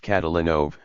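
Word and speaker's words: Kotolynov: So, Kotalenov would be pronounced Catalanov with stress on the third syllable.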